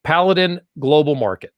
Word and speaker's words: Paladin Global Market: Paladin Global Market.